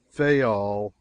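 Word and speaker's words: Fayal: Therefore, we steered for the nearest island of the group Fol. People there pronounced it fol. And put the accent on the first syllable.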